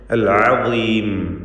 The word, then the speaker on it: العظيم: അൽ അദീം ഈ പദത്തിൽ ളാഇന്റെ ഉച്ചാരണവും തഫ്ഖീമോട് കൂടിയാണ്. എന്നാൽ കസ്റ ആയതുകൊണ്ട് ഏറ്റവും കുറഞ്ഞ തഫ്ഖീമാണ് ഉണ്ടാവുക.